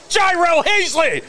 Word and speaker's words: Gyro Hazley: And I'll say it once and I'll say it correctly. Gyro Hazley.